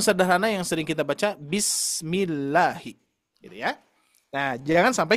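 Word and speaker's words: بسم الله: Maka dari itu diperhatikan kalau misalkan sebelumnya kasroh baru dibacanya tarkik, dibaca la, bismillahi ya. Jangan sampai bismillahi gitu ya.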